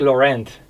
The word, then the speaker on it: Laurent: yeah yeah it it it's originally it's french so it'd be lauren that's what i was going to say everybody in new zealand says lorraine so i yeah yeah